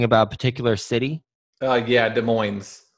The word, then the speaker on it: Des Moines: particular city oh yeah Des Moines Des Moines okay I don't think we pronounce the S with Des Moines probably you you pronounced as I don't think you're supposed to pronounce that I don't I'm not